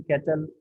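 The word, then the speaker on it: Cattell: Thames मकीन कैटल और कटेल भी इसको कहते हैं। इसका प्रोनाउंसिएशन डिफरेंट जगहों पे डिफरेंट अंदाज से किया जाता है।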